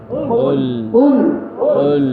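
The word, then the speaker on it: قل: কুল কুল গলার মধ্যে একটু ধাক্কা দিতে হবে। কুল যদি আমরা কুল বলে ধাক্কাটা না দিই অর্থ কিন্তু চেঞ্জ হয়ে যাবে।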